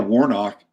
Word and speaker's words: Warnock: And Raphael Warnock rhymes with Warlock.